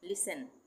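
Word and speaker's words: listen: उसी तरह से लिसन। लिसन लिसन नहीं बोलेंगे। एस टी ई एन एक साथ आ रहा है। तो यहां पे टी साइलेंट हो जाएगा। लिसन उसके बाद सोफेन सोफेन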